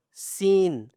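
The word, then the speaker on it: سين: So, here we have seen, s double e n. Seen. Okay? And then we have sheen, s h double e n. Okay? Seen. And then, sheen. They have different voices, okay?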